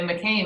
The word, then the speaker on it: McCain: You say McCain, like the French fries.